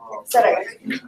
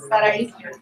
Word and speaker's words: Sarahi: Sarai. What did it say it again? Sarai. Sara. Sarai. Sarai. Did I say it? Sarai. Okay, Sarai. Yeah, H is silent.